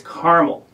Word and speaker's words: Carmel: he corrected me i said oh you're from carmel and he said no it's caramel and i kind of thought that was amusing